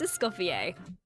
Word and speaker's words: Escoffier: Cass, and I voice Escoffier. Escoffier, I think. Ooh, wait, did Google get it right? I'm gonna have to watch that part back to see. Escoffier, so that's how you say her name.